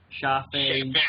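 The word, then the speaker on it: Shafi'i: Because I can't pronounce it. Don't worry about it. Shafi.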